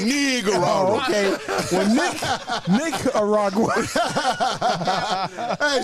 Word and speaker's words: Nicaragua: Listen, y'all know I can't pronounce the word Nicaragua. Ooh, yeah, say that slower than bro. Because it ain't nigga. It ain't nig in there. It's Nicaragua. I said Nicaragua. It's Nick. It's got a in it.